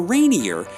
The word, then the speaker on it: Rainier: Seattle and visit Mount Rainier National Park or Rainier if you want to use the correct pronunciation for rear Admiral Peter Rainier after whom Captain George